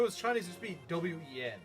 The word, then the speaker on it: Nguyen: There's the name Wen. It's spelled Nguyen. How the frick does that make any sense?